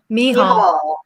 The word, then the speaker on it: Michall: You pronounce her name Michall? Michall. Okay. Yeah. She's she's in Israel and she's got that cultural background, so she has a different pronunciation of her name.